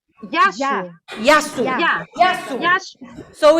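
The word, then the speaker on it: Γεια σου: Yasu ou Kasu? Yasu. Yasu. Yeah. Yasu. Yasu. So it means see you. See you, yes. Okay. Yasu. Goodbye. Vamos lá, vamos dizer Yasu.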